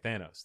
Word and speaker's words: Thanos: of the movies in the franchise thanos okay thanos that's right oh really thanos thanos is like famous enos cookies but yeah thanos is uh trash really yeah yeah why because